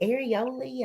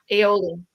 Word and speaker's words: aioli: They had some kind of, is it areoli? Am I saying it right? Or Yeah. Aioli? Aioli. aioli. I keep saying areoli.